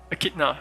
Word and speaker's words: echidna: something come from i don't know how to pronounce the the name of the animal echidna right echidna csv uh there are four